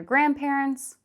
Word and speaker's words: grandparents: One of them was visiting their grandparents, but the others could join.